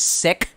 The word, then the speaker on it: Sikh: it's like I know the actual pronunciation of the religion is sick but when you're like